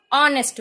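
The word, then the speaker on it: honest: एन ऑनेस्ट मैन, हम एच यहाँ पे प्रोनाउंस नहीं करते, हॉनेस्ट नहीं बोलते, हम ऑनेस्ट बोलते हैं।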